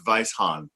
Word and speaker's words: Weisshahn: It's German, and it used to have a few other H's and N's. It's Weisshahn, which means white.